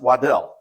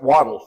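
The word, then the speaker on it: Waddel: it's should be pronounced wadel but he pronounced it waddle like what a duck does so he founded the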